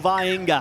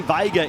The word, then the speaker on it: Vaenga: Ray Tuimalo Vaenga. Has been known as Ray Vega in the past, but thanks to all clubs for knuckling down on pronunciations.